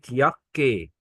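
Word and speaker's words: Jacke: يهر هو أنا هنطقه يوت يعني يبقى يوت كاكي؟ طبعا استحالة الكلام ده. قال لك حرف اليوت في اللغة الألمانية هنا هنطقه يه. هنطقه إيه؟ هناك بتقول حرف يه. اليه، يه. زي كلمة ياكي، تمام.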